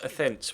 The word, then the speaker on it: Athens: of you actually that it is Athens rather than Adents.